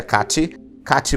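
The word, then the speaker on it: Kathi: dela de nascença era que a t h i que a gente pronuncia Cati brumbaca ela nasceu na Alemanha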